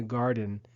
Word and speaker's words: garden: To work in the garden, we say, is to garden. The accent is on the first syllable, garden.